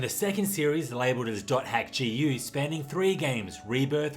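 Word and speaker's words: .hack: go h is for hack okay it's actually pronounced dot hack but the dot symbol isn't in the alphabet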